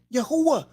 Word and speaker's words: Yahuwah: who way who uh see in hebrew the vowel could either be it could be either side of the constant at any time it could be on either side of the constant but seldom together would find a constant sound separating there so in this case the who uh and adding the yaw to it this will become yahuwah it's very simple folks